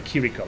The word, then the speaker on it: Kiriko: there you know sorry kiriko it's not chirico it's kiriko I think it's the pronunciation yeah he's still playing